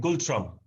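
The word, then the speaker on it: Ngultrum: answering the answer is negotram is actually called n is silent gultrum okay that's the right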